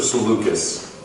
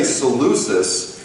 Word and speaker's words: Seleucus: um and uh and is it would you say lucius or seleucus so lucas okay go i always used to say seleucis and then someone corrected me and said it's lucas